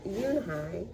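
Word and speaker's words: Unhei: "Yes, it's pronounced Yoonhai, and it means grace," Mr. Kim added. "Yoonhai," Joey said, slowly, and this time perfectly.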